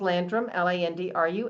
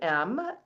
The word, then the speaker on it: Landrum: And the last name's Landrum, Landrum.